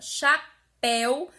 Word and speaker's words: chapéu: essa resposta é que na palavra Chapéu a pronúncia do é é um som aberto na palavra comeu ué tem um som fechado comeu sapel certo aí